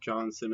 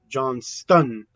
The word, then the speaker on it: Johnston: I was pronouncing it Johnson, but it's not pronounced Johnson. I think it's pronounced Johnston.